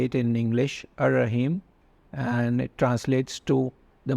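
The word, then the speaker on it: الرحيم: And the next one is Ar-Rahim, and this is how you would say it in English, Ar-Rahim, and it translates to the most merciful.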